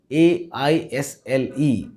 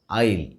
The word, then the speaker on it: aisle: This is spelt A-I-S-L-E and pronounced as aisle. Sometimes we might mispronounce it as aisle or even as eisel.